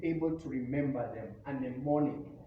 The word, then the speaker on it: mnemonic: A mnemonic. The word mnemonic starts with M, where M is silent.